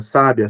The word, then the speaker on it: sábia: Trocando a posição da sílaba tônica, sábia, sabia? No segundo caso, a sílaba tônica é bi. No primeiro caso, a sílaba tônica é sá.